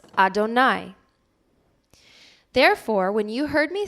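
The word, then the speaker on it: אֲדֹנָי: word is the yudhav hey to which we pronounce Adonai therefore when you heard me say Adonai Adonai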